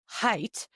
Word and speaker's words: Haidt: Oh, pronounced Haidt. Look, it's right there. It was in the blurb. Ah, look at that. We've been pronouncing it wrong this whole time.